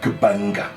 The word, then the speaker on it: Gbanga: A few weeks later, he made it to a place called Gbanga. Gbanga. Gbanga, Banga they call it. G is silent.